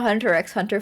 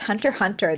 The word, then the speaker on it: Hunter x Hunter: Hunter x Hunter it's Hunter Hunter the x is silent then why is there